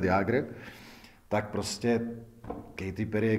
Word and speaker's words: Jágr: Takže jako výslovnost, říkáte to správně, jako je Jaromír Jágr, Jaromír Jágr, i ty Američani se naučili nakonec místo Jagger mu říkat Jágr, tak prostě Katy Perry